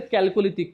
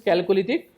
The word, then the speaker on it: Chalcolithic: Some called this as a calolithic. Correct pronunciation is calolytic but don't focus on this pronunciation.